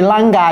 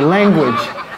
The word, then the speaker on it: language: J'ai pas dit lang. Je sais qu'il y a quelqu'un ici, je ne prononce pas ça, il va dire lang. Non, c'est language.